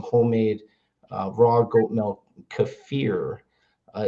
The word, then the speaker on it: kefir: Kafir uh is the proper pronunciation from Eastern Europe. And we call it kefir in America, but kafir.